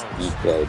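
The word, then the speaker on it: Dike: His name is DK, but it's spelled D-I-K-E. Dyke.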